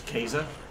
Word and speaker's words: Caesar: Caesars actually plan skater which over the Latin pronunciation of Caesar is actually they have no scoffs II so it's Kaiser um the game one of the characters in